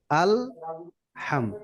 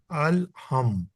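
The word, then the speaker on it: الحمد: চায় আল আলা আল এরকম যেন না হয় আলহামদ ঠিক আছে আলহামদ আলহামদুলিল্লাহি রব্বিল আলামিন আলহামদুলিল্লাহি রব্বিল আলামিন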